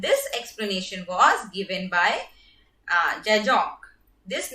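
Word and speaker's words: Zajonc: explanation was given by Jajong. This name is pronounced to rhymes with science.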